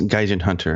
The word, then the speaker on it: Gaijinhunter: Yes, Gaijinhunter.